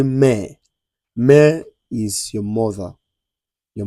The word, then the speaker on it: mère: A So, you don't say may. You say mère. Mère is your mother. Your mother means mère. So, you say mère. Like you want to say mère.